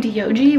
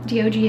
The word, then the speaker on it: Diogi: So Diogi is D-I-O-J-I, but when you pronounce it, it's like D-O-G, dog, kind of.